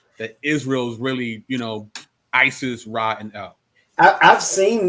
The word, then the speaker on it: Isis: The Egyptian pronunciation of the name of this goddess was something like Waset or Osset. No resemblance to is or yees. Here's how Isis is spelled in hieroglyphics.